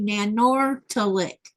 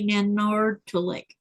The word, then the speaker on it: Nanortalik: Now, if you look at that as an English speaking person, you're like, oh, that must be Nanortalik. Actually, the R is silent and the T is a D sound.